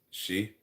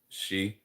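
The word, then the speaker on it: sidhe: was either city or the word she which in GI or Celtic means um it's spelled the same s i d except no it's not spelled the same. s i d h e which means fairy I think in um gaic or Celtic.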